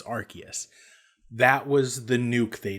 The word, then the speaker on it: Arceus: not why i'm here pokemon legends arceus not arceus which is how i've always pronounced it apparently it's it's arceus that was the nuke they dropped this looks